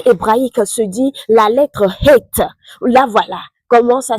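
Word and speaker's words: חית: La 8e lettre de l'alphabet hébraïque se dit la lettre Het. Là voilà, comment ça s'écrit en hébreu.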